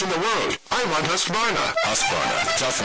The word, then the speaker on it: Husqvarna: know you can't pronounce Husqvarna, the name that means craftsmanship all over the world. So I teach you now how to say Husqvarna. You say husk like corn and varn like fish without the ish, and nah,